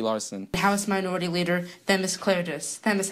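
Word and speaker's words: Themis Klarides: House Minority Leader, Themis Claridis. Themis, how are you? Good, and you pronounced my name properly, so you're way ahead of the game from all the other leaders in Connecticut.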